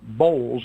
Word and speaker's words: Boles: find it number one your name is Chad Bowles and you spell that bol es the title is blinded authority